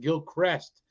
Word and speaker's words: Gilchrist: see this Gil Christ Gil Crest is what it's pronounced but Gil Christ is what it spell old Gilcrest Trenton Florida